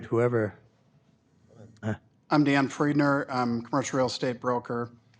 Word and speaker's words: Friedner: your left or right whoever hi I'm Dan friedner I'm commercial real estate broker with Numark I live in Lindstrom okay uh your first name again Dan and your last name friedener you want to spell that f r i e d n e